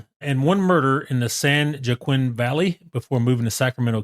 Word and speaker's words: San Joaquin: We got to work on the way you pronounce California towns. Why? It's San Joaquin.